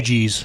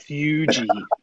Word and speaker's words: Fuji: cools the smoke down slightly, so It's not pronounced like a normal Fugees. pipe. Fuji.